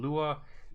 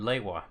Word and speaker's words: Lewa: I always pronounce it as Liwa. That's mostly what I got. There's been Lua, Liwa, and Lewa.